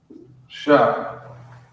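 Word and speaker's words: ש: And it's pronounced Shah.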